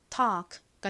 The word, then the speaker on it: talk: 한 번 더 해볼게요 이케는 굉장히 굉장히 약하게 발음 돼요 터크가 아니라 Talk Talk 이렇게요 talk 좋습니다이의 의미가 뭘까요은